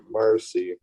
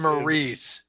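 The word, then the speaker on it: Maryse: Give me the Miz and Marcy. Mary C. Or I don't know how to say it. Marcy. Miz and Maurice. Oh, Maurice, my bad.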